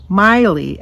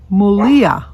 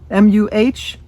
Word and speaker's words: Malia: I thought it was Miley, Myleah, and she thought it was Mylah, Myleh. But we were informed that it is Mulia, Muhleuh is the pronunciation.